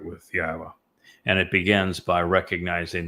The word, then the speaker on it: Yahowah: time left to get your relationship right with Yahwa. And it begins by recognizing that Yahwa has one and only name. and that you start using it, that you start celebrating it, that you revere Yahwa's name, and that you pronounce it correctly.